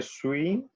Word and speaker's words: suis: Je suis, acuérdense que la S final no se pronuncia.